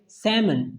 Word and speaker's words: salmon: वो है सैमन, सैमन, SALMON, इसमें ये L वर्ड जो है साइलेंट है। सैमन यानी कि एक मछली का नाम है। ठीक है, एक मछली का नाम जस्ट सैमन, इसमें L साइलेंट है।